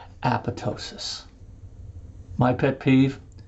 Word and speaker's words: apoptosis: function, which is called apoptosis. My pet peeve, the second P is silent. It's not apoptosis, although that's a great